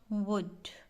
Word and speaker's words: would: बहुत सारे बच्चे ये जैसे ये हो गया वुड।